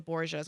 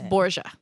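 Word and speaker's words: Borgia: I thought it was bour. Where's the E in there? I thought that's how you pronounce No, it's Bourja. B O R G I A.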